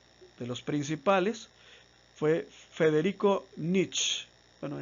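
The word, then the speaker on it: Nietzsche: Uno de ellos, de los principales, fue Federico Nietzsch. Bueno, en alemán se debe pronunciar algo así como Nicht.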